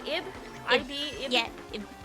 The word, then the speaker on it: Ib: Ib? Yeah. Ib. It's technically pronounced like Eve, but if you say Eve, then like nobody knows what the fuck you're talking about.